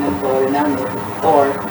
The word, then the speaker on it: Thorre: Thorre, but we pronounce it Thorre. And originally Tower, Thorre talaga T-O-R-E, but we make it H and double R to be not so common.